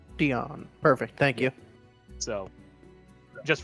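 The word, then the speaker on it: Dyon: Dion. Dion. Perfect. Thank you. So, just for your future reference, that's spelled D Y O N.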